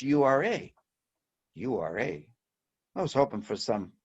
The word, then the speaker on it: Ura: So after several confirming, reconfirming, it's U-R-A.